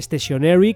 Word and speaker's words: stationery: Y la gracia está en que stationary, es decir, estacionario, se pronuncia igual que stationery con E, que es el material de papelería en general.